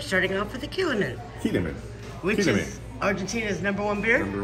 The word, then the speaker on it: Quilmes: It's Quilmes. It's the S is silent.